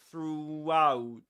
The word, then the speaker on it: throughout: through through and that's why Luke Thompson says that you can hear a W sound in between throughout throughout because he pushes